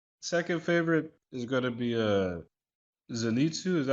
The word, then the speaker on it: Zenitsu: You know, so I mean second favorite is gonna be Zenitsu. Is that how you pronounce his name? Lightning dude. Zenetsu.